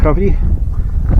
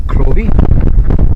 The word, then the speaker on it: Crovie: This is a a plaque telling us about KVY or as it says there pronounced Kvy, not Krovy.